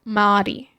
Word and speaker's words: Marty: Nah, it's Marty with the hard R. So I was saying it right. Marty.